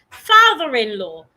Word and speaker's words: father-in-law: Okay, somebody said, "Please repeat the pronunciation of father-in-law." Father-in-law. The word father, the letter A makes a long sound. Fa, the th put your tongue outside. Father, your tongue should be outside.